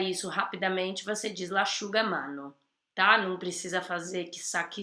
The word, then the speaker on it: l'asciugamano: SC com som de X, e já na sequência tem um I e um U. Então, l'asciugamano, quando você vai pronunciar isso rapidamente, você diz l'asciugamano, tá?